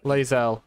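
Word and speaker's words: Lae'zel: I've been mispronouncing her name this entire time. Lazel, okay.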